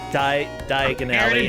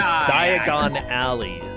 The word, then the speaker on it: Diagon Alley: the diagonal diagonality yeah no it's not diagonally it's diagon alley oh yes yes that's